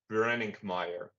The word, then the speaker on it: Brenninkmeijer: Dutch but for you guys probably difficult to pronounce last name uh it's called branding Meer um I'm e-commerce I'm an e-commerce manager um at Heinen for an online store blade.